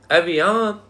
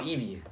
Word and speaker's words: Evian: It's called Evian. Because it's like the same spelling as Vivian. It's supposed to rhyme with Vivian.